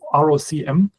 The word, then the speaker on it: ROCm: They have, I think I don't know how it's pronounced, maybe ROCM. It's ROCM.